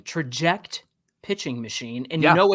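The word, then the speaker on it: Trajekt: I like this name, Traject Pitching Machine. And you know it's cool, Mike, because it's spelled Trjekt, Traject.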